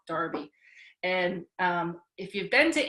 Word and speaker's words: Derby: darby day in england i know it's spelled derby but in england they call it darby and if you've been